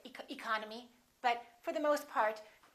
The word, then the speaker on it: economy: the first word economy the second syllable is stressed therefore this e and this o are reduced we don't say e col no me we say economy economy look at this